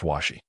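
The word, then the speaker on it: 鷲: In Japanese, hawk is pronounced taka while eagle is pronounced washi.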